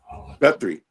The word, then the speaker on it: Guthrie: They said, uh, Joyce said, "I don't think Miss Gutierre, uh, how do you pronounce her name, Malikica?" Guthrie. Gut Gutri. Oh, yeah. Gutry.